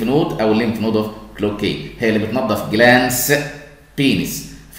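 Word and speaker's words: Cloquet: اسمها ليمف نود اوف كلوكي، دي واحده من الديب انجوينال بس لها معامله خاصه ليمف نود اوف كلوكي. التي ما تتنطقش لان الراجل ده فرنساوي وصفها في نفس الوقت واحد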